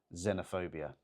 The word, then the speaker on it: xenophobia: And bear in mind, even though they start with the letter X, they're pronounced with a Z at the beginning. That helps. So, xenophobia.